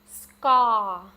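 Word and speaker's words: ស្ករ: It's pronounced ska, ska, ska.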